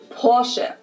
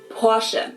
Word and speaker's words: Porsche: Porsche. It's located in Stuttgart, Germany. I've heard Americans pronounce it Porsche or Porsche. In German, we say Porsche. So there's like this short E sound in the end. Porsche.